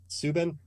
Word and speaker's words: Subban: last night, PK Subban, I think you say his name. Subban.